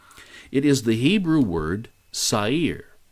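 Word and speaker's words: שָׂעִיר: is the hebrew word sair it's actually pronounced with a little bit of a roll on the r so i guess you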